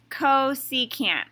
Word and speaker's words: cosecant: the sine function is cosecant so we pronounce that co secant okay and it's actually opposite of what you might think notice the first three letters are cos so co it sounds like it